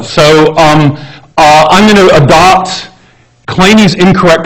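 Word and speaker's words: Kleene: has that pronunciation right in English it looks like clean and we'll be claiming it's just not know so I'm going to adopt clay knees incorrect pronunciation of his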